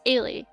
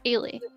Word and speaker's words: Eilidh: It's Eilidh. If you can say Kaylee, take away the K, and it's Eilidh.